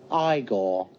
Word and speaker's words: Igor: also there's marty feldman you must be igor now it's pronounced igor number six knight of